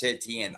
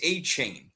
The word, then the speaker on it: Etienne: big ones is Travis Etienne's name is not pronounced Travis Etienne. I don't know if you heard this, but he did an interview. All right. I saw that. His name is pronounced Travis Achain.